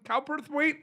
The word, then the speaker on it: Cowperthwaite: tiny pretty things that was on netflix burton cowperthwaite is with us martin welcome to pop territory